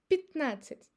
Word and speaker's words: пятнадцать: When it's unstressed, it's again pronounced as I. Пятнадцать. Пятнадцать. As you see, I don't say пятнадцать. I say пятнадцать. Пятнадцать. So even the last A is very, very slight and pretty close to E.